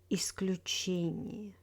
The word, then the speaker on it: исключение: In words with iya, iye, stress falls on the syllable before iya and iye. Компания, авария, ударение, исключение.